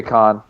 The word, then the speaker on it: Khan: I don't know, Khan or Can, but the president of AEW, It's the thing Khan. is, okay, Khan, like from King of the Hill.